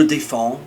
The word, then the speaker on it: défends: Je défends, all of a sudden we have a silent S but also a silent D.